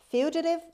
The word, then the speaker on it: fugitive: six fugitive figurative fugitive fugitive is a noun the stress is at the beginning means a runaway mania